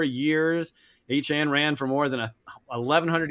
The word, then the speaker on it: Etienne: I mean, everybody's been saying his name wrong, and I get it because Etienne looks like Etienne and doesn't look like anything like Achan, but that's how we're going to say it going forward.